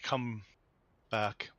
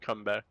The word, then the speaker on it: Cumberbatch: Instead we got Benedict come back. Yeah. You pronounced Well-known that actor, way wrong. Benedict Cumberbatch.